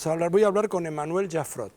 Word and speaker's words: Jaffrot: Primero porque voy a hablar con Emmanuel Jaffrot. ¿Pronuncié bien?